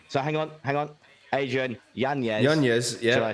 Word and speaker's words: Yanez: Yanez, yeah. Should I say? Yeah, that's currently correct pronunciation.